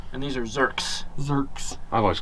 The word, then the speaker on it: Zerk: inside and get to zerk out is it pronounced zerk or zert it's a well it's a not zert and these are zerks zerks I've always called them desserts is it